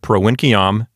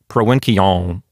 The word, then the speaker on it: provinciam: When I pronounce it, I pronounce the M very clearly for clear pronunciation. So if I'm teaching, someone can hear the morphology, you know, the form of the word. Or if I'm speaking Latin with my friends, they'll hear, you know, what case I'm putting that word in. But from what I've been told, the ancient Romans pronounced it with kind of a nasalized sound, like provinciam.